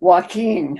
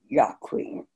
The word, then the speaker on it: Joaquin: I told you it's ka-ko-ku, but the C before I and E is pronounced like a S sound. C-I is pronounced C. You would want to pronounce Joaquin Joaquin, would you?"